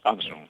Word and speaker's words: Anson: Anson ha quitado el acento en la O en su apellido, ¿no? Para hacerlo más de estilo inglés. Anson.